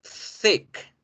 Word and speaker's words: thick: Thick. Saludable, healthy. Healthy. ¿Sí? Es importante que generen así de esa forma interdentales porque si no, pueden confundirme thick con tick.